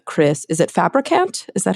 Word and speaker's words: Fabricant: criminal justice system by m Chris is it fabricant is that how you say it all right